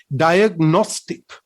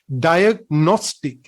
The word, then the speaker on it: diagnostic: So ඒ වචනය අපි ශබ්ද කරන්නේ, අපි pronounce කරන්නේ diagnostic. Here, diagnostic, again, not diagnostic.